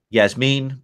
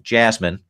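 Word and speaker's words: Yasmin: turned out to be yes mean Blumenthal who will now refer to as yes mean for the rest of the time or as most people here in the Midwest pronounce it jasmine Blumenthal they were able to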